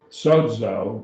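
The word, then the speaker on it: σῴζω: have the next word sodzo sozo2 to omega so it has two syllables sodzo zeta the zeta your teeth it's a dental your teeth almost vibrate when you say it sews up i say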